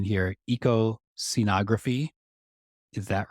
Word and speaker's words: ecoscenography: projects right first the and and correct my pronunciation here Eco scenography is that right that's correct yes EOS syy